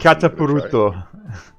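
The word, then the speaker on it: Kataparuto: I just don't know how to pronounce it. Katapuruto.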